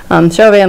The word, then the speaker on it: Chauvin: Chauvin, Louisiana. Thank you, Tracy Windley, for the video on how to pronounce towns in Louisiana.